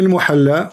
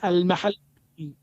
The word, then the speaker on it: al-Mahalli: Jalaluddin al-Muhalla wa Jalaluddin al-Suyuti. wrong. It is not al-muhalla. What it You is? don't understand. What it is? It is al-mahalli. Al-what?